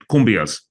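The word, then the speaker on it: cumbias: you mentioned kumas earlier right so let's say kumas Kum that was perfect right thank you was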